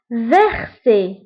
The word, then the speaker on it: verser: فوالا هنا قبل منها كونسون، ها هو ار verser كتقرب اس.